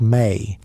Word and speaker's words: me: They called these gifts the mi, pronounced may.